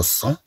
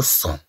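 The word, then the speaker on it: sang: لو فيرب سيني اذا هنا عندنا لو سون هاد الجي لا تنطق ميتيفو اون رون ضعوا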